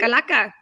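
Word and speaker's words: calaca: So the altar, the Dia de los Muertos altar, the Kalaka, is that how you say it? Kalaka? Yes, perfect. Kalaka.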